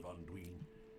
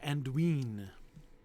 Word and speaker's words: Anduin: I don't know why he says Anduin. That seems a little odd. I would think that if he wanted, for some reason, that is, if Tolkien wanted us for some reason to pronounce that I long like that, he would have accented it.